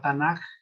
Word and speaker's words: Tanakh: Uno se conoce como la Tanaj así con letra K al último, pero así se escribe. Cuando ya la pronuncia, tal y como lo hemos pronunciado, es Tanaj. Es muy largo explicarles por qué la letra K adquiere la fonética del sonido de la letra J.